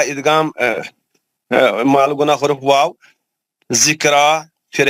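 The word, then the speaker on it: ذكرى: माल गुना हुर्फ वाव, जिक्रा फिर है खड़ा जबर है रा पर, जिक्रा नहीं, जिक्रो रा को मोटा पढ़ेंगे, रा पर खड़ा जबर है, दो हरकत खींचेंगे।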